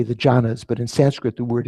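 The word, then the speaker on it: jhāna: In Pali, the word dhyana is pronounced jhana.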